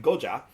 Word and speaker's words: Goya: other companies for instance Goya um or you know in the in the more uh appropriate Puerto Rican pronunciation Goa um and being from